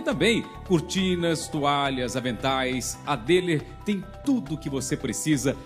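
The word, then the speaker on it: Döhler: Por isso que eu digo sempre, quem ama, cuida com Dehler. Se escreve assim, D-O-H-L-R, mas se pronuncia Dehler.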